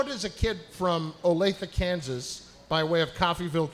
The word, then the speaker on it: Olathe: does a kid from is it pronounced ola the-- yeah Olathe Olathe yeah I had to